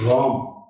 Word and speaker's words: Raam: Yes, it's Raam and not R-A-M.